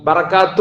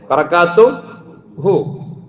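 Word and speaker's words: بركاته: ബറകാത്തു എന്ന് പറഞ്ഞാൽ ശരിയായില്ല, ബറകാതുഹു നിർത്തമ ബറകാതുഹു എന്ന് പറയാം. പക്ഷെ ഹു എന്നൊര വാക്ക് അക്ഷരം ഇവിടെ ഉണ്ട്.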